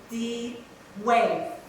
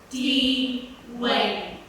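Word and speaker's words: Deewayne: There was this one trainee at the firm called D. Wave. No, not the wave. D. Wayne. It's spelled D-E-E-W-A-Y-N-E. D. Wayne.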